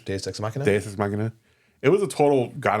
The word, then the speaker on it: Deus ex machina: Deus Machina. Deus Ex Machina? Deus Ex Machina.